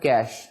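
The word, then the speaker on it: cache: ऑफ कैश actually जो this word is like just like कैश यानी जो आपका कैश या पैसे होते हैं इसमें ई साइलेंट है आमतौर पे जो है वो लोग ई को प्रोनाउंस करते हैं बट ई is actually silent in this word तो ये कैश की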